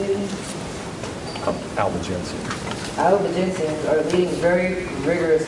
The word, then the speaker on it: Albigensian: Albigensian.